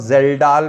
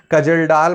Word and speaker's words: Kjeldahl: तो नाइट्रोजन के एस्टिमेशन के दो मेथड है हमारे पास में, ड्यूमास मेथड और जेल्डाल मेथड। इसमें के साइलेंट रहता है, कजलडाल मत बोलिएगा, नॉलेज को आप कनऊ लद गए नहीं बोलते हैं, नॉलेज को, ठीक,